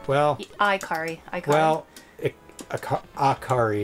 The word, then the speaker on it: Ikari: Ikari? Well... Ikari. Well... Akari is how I think most people pronounce it, Akari. Even though that's probably wrong.